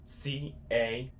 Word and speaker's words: carro: C-A-R-R-O. Carro. carro. So that's a hard C. You can pronounce it like your regular C.